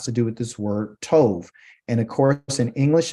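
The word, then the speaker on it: טוב: There is no letter V in the Hebrew language, but just for pronunciation, it really would be tob. Okay, but since it's on the end of the actual word, it is pronounced with a soft B sound. Okay, it's still a bet, but it's pronounced as v.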